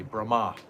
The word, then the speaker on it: Brahma: And if it's got a line over an A, it means it's a long A, like we say Brahma. And if it's Brahm, it's completely different.